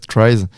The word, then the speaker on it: Tries: Du coup, TRIES, si on prononce à la française, TRIES, on a l'objectif d'accompagner médicalement le sportif en déplacement.